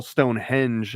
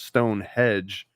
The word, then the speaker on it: Stonehenge: Latin uh form and you call Stonehenge as Stone Hedge then again this is